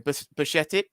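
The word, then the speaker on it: Bajčetić: already forgotten out was We were supposed to pronounce his name butchetti yeah Stefan um the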